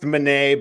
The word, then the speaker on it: Menei: It's pronounced Menei, but I'm not French, so you do what you want to do.